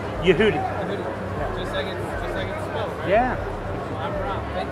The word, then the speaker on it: Yehudi: Yehudi.